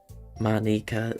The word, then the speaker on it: Monika: Matsu was implying Monica is the English version of pronunciation. Manika is that Japanese way.